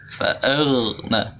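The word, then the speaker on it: فأغنى: Jadi dibacanya datar tidak boleh. Jadi fa'aw, fa'aghna, fa'aghna.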